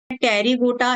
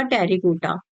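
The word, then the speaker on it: Pterygota: एक होता है टेरीगोटा, एक होता है अ टेरीगोटा। यहां पर पी साइलेंट होता है।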